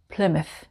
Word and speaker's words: Plymouth: Plymouth.